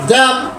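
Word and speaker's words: damn: డి డి ఏ డి ఎం ఎన్ ఎం ఎన్ ড্যাম ড্যাম ড্যাম ড্যাম ড্যাম ড্যাম আবার ড্যাম ডি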